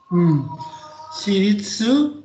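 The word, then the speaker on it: 私立: Shiritsu, ya dibacanya ini shiritsu ya. Shiritsu tadi watashi dibaca watashi. Kemudian berikutnya dibaca shiritsu, swasta ya.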